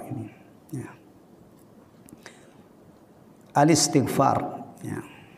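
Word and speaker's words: الاستغفار: Bacanya yang benar itu al-istighfar, ya, bukan al-istighfar. Karena hamzahnya itu namanya hamzah wasal. Jadi kalau ada membaca al-istighfar, itu bacaannya kurang fasih, kurang tepat. Yang benar adalah al-istighfar. Ya, al-istighfar tulisannya, membacanya al-istighfar karena hamzahnya ini termasuk hamzah wasal, bukan hamzah qata'.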